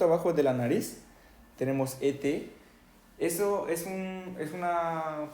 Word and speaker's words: et: de la nariz tenemos ete eso es un es una pequeña palabra que hay que significa y por ejemplo Tony y Manuel y Tony Emanuel Okay pero si se pronuncia e OK Vamos a ponerle